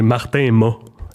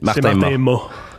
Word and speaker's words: Martin Mat: Il y a bien du monde qui nous confondent, mais c'est M-A-T. OK, donc on prononce pas le T, c'est Martin Ma.